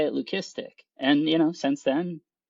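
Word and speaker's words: leucistic: And, yeah, learn lesson learned, you know, of the whole uh, lucistic, right, being the appropriate pronunciation, you know, for that.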